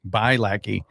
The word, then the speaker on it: Bialecki: I've known your husband for some time now, but what's the proper pronunciation? Bucky. Back. Back. Back. Okay. By lackey. Yes.